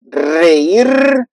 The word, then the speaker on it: reír: So now we have the two pronunciation, but it still is going to be the same and strong.